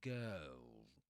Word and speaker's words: girl: A girl. Right? That's the nurse vowel sound. It's a long the girl, girl. Notice that in this accent you don't pronounce the ra is not pronounced, right? The letter r is not pronounced. So you say girl, girl.